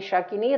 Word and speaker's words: Shakini: In realtà io un po' italianizzato, qui si dovrebbe dire Dakini, Rakini, Lakini, Kakini, Shakini, Rakini e Yakini. E poi quando parlo italiano mi confondo anch'io, lo dico all'italiana, ma è l'ultimo accento è sull'ultima.